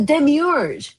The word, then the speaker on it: demiurge: So that the Gnostic metaphor the demiurge that actually shows up in Gnostic philosophy the demiurge am I pronouncing that right?